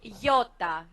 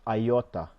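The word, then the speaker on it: ιώτα: what's the next letter this is Yota Yota but it's an e sound in modern Greek this one yeah you know interesting things that uh many pastors I hear they pronounce iota yeah because um it's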